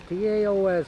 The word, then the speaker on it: Taos: T-A-O-S, they pronounce it Taos, New Mexico.